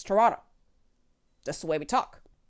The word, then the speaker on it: Toronto: toronto east right meaning you don't pronounce the second t in toronto it's not toronto it's toronto that's the way we